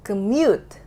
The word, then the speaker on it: commute: Nah, jadi di sini masalahnya adalah gue tadi nggak membuat syllable yang ini, yang mute-nya itu stronger than the other syllable.